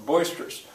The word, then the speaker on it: boisterous: Which syllable is stressed and how many? Well, hopefully a kid will say, well, there's 3, and the first one is stressed.